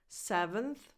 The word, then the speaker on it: seventh: And remember that the stress is on the first vowel, on the first syllable, so 7th. The second vowel is just a schwa. 7th. Not 7th.